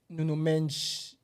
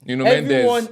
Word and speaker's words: Nuno Mendes: Everyone, Nuno Mensch, let's pronounce the name correctly. Nuno Mendes. Everyone he faced in the Champions League, Cucurella faced them in the Prem, Yeah.